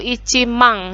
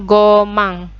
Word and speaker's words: 万: Nah, ini yang cukup sulit ya, karena berbeda dengan pengucapan rupiah bahasa Indonesia ya. Hati-hati, jadi kalau nolnya 4 itu tidak 10.000 tidak ada ya, tapi langsung masuk mang.